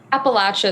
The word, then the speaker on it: Appalachia: starting your magic in apalachia is this the right way to pronounce this yeah yeah that's that's close Okay how do you say it Appalachia is the English pronunciation okay starting your magic